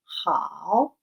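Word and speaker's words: 好: Entonces, en este caso, el de jao, que es que el tercer tono se pronuncia como si fuera alargando la vocal. Entonces diríamos jao, jao.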